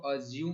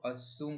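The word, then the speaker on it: assume: करता हूँ, राइट, ए लोग इसको अज्यूम प्रोनाउंस करते हैं, बट A double S यू एम इसको असूम करते हैं, असूम, इसको अज्यूम नहीं पढ़ना है, असूम पढ़ना है, राइट।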